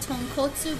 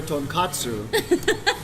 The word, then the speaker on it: tonkotsu: So you gotta be careful like how you say it, because if you order tonkatsu, You're not gonna get the Why don't you soup start putting broth food in?